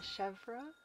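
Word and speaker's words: Chevre: I did listen to a pronunciation guide, and apparently it's Chevra for our new Grotish friend.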